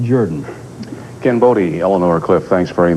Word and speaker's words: Jordan: to the idea that it's spelled Jordan but pronounced Jordan cambod Elanor Cliff thanks very much question what